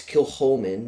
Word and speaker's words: Kilchoman: for example like like you could say kilchoman or whatever who cares whatever it's kill Holman you gotta you gotta